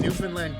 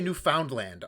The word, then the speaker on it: Newfoundland: pausing and saying newfoundland oh people who say newfoundland aren't saying it right right right yeah right emphasize the found you emphasize the land okay dan why don't